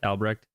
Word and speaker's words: Albrecht: That is how you say his last name, right? Albrecht. Albrecht, yeah, Albrecht.